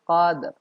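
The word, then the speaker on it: قدر: Padahal seharusnya yang benar adalah fi lailatil qadr. Qadr. Ada sedikit ro-nya. Di ayat kedua juga lailatul qadr.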